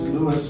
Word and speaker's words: Louis: And it's Lewis spelled like the city of St. Louis, not like the civil rights hero.